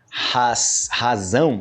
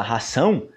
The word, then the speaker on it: razão: palavras que parecem muito se você pronunciar a palavra razão se você falar ração muitas pessoas cometem esse erro de ração a você